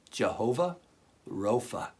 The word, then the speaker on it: Jehovah Rophe: That name, the Lord who heals you, is said like this: Jehovah Rophe.